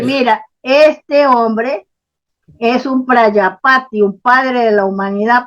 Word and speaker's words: Prajapati: Por eso hacían eso, sí, Prayapati con J, Prayapati, quiere decir padre de la humanidad con en J. la India. Vale. Sí, Prajapati se escribe, Prajapati.